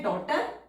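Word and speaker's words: daughter: डॉटर, इसमें कोई भी रूल नहीं अप्लाई हो रहा था तो हमने टर, टर के लिए टी के लिए स्ट्रोक बनाया और इनिशियल में आर हुक बनाया, जीएच हमारा साइलेंट है, डॉटर।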